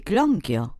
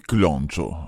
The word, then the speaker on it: clonchio: Per italiano si dice clonchio. Clonchio. Sì, cosa, non te sapevi? Ma sì, sapevo, ma cosa? Non si dice cloncio, scusa.